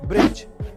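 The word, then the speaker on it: bridge: Number 1, अगर किसी word में जी से पहले डी आए तो उसमें डी साइलेंट रहता है, जैसे कि ब्रिज, जज, नॉलेज।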